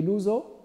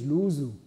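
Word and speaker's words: Luso: is another point of Portuguese final o is always pronounced U just to make difference from from Spanish Spanish would be loo Portuguese losu that's it so uh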